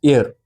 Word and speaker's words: heir: Next word is एयर। एयर मतलब ऐसे HEIR है, इसकी प्रोनाउंसिएशन एयर होती है ना।